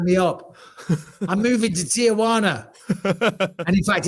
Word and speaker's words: Tijuana: I'm moving to Tijuana. And in fact, it's not Tijuana, it's Tijuana. There you go. Because I respect the culture. If you're going to say the word, it's got to be said properly.